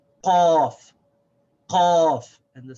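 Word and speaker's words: قاف: This is qa. It's very sharp. And the way that we pronounce this is that it comes from back here. Qa. Qa. Just above the back of the throat. Qaf.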